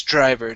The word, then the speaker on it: driver: you is the bus driver now here with the dr instead of saying bus drive driver okay give me a jr sound jur driver bus driver test driver good